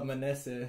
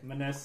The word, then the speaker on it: Manese: It's Manese. Manese. It's like the short E's, you know.